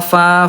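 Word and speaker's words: ف: Huruf fa kan tempat hurufnya bibir dalam bagian bawah disentuhkan dengan ujung gigi seri atas ya, fa fi fu.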